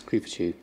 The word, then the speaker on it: Creepachu: Only the first syllable is Creepachu. Like Pikachu, but Creepachu.